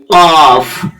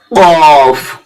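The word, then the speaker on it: كاف: কাফ জীবের গোড়া হতে একটু আগে বাড়িয়ে তারপর আবার উপরের তালু কাফ এইভাবে উচ্চারণ করবেন তাহলে উপরে ছটা অক্ষর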